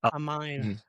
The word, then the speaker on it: Aiemann: Amin.